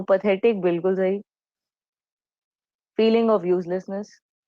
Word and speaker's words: path: मैं इसको पैथ क्यों प्रोनाउंस कर रही हूँ? बिकॉज पाथ, PATH, इंग्लिश में एक ऑलरेडी कंप्लीट वर्ड है. इसका मतलब होता है वे या रूट, रास्ता.